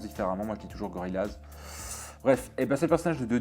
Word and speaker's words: Gorillaz: Ça, chacun prononce différemment. Moi je dis toujours Gorillaz.